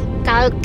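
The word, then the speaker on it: Cuijk: Ya se What cuik kauk Oke kauk tulisannya cuik ini bacanya ka Oke nanti kita lanjut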